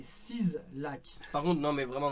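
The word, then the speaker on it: 6LACK: Alors, l'habit, c'est pas Six Lac, c'est 6 Lac.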